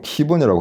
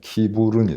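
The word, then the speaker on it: 킨부른: 근데 이제 한 가지 재미난 뉴스가 들려왔던 게, 최근에 그 키브론 반도, 어떤 사람은 키본이라고 하는데 그건 영어식 발음이고요. 그 라틴어 고대로 읽으면 키부른이 됩니다.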